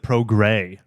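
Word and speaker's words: Progrès: even know this vehicle existed oh okay you pronounce it PR gray all right well how would I know it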